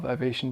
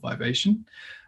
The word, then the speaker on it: Vivation: And I'm pronouncing that in an American way, I guess, saying Vivation, but I've just heard you say it so much now that it sounds wrong as Vivation, which is how we would say it in England.